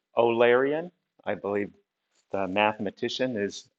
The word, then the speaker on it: Eulerian: is called uh and you think it would be eulerian but it's actually pronounced olarian i believe the mathematician